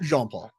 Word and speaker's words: Jean-Paul: How do you say it? Jean-Paul? Jean-Paul. Jean-Paul. Perfect.